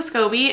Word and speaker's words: SCOBY: So I'm gonna grab a piece of this SCOBY so I can do my own kombucha stuff at my apartment, and I'm very grateful and I'm very excited.